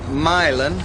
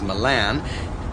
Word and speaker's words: Milan: And then from Milan, which parenthetically most people tend to mispronounce as Milan, you would stay on the 250 through Norfolk and...